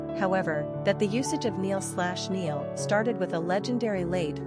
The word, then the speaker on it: Níall: Níall is actually an anglicized form of a long-enduring Gaelic name Níall, pronounced Níall, used since the Middle Ages in Ireland and the Scottish Highlands.